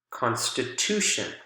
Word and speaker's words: constitution: One more example, constitute, constitute, constitution, constitution. Here, the strong syllable is at the very beginning, but when we add the shun suffix, the strong syllable shifts over, again, to the syllable that is right before the suffix.